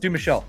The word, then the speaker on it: Dumouchelle: His last name is spelled D U M O U C H E L L E, pronounced DM Michelle.